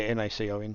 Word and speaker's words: Nacon: Nacon, yeah, N-A-C-O-N.